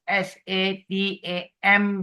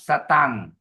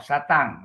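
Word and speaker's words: sataṃ: the dot on top they are pronounced as N G Oh ok example the first line the word is s a t a m with the dot so becomes satang oh not satam not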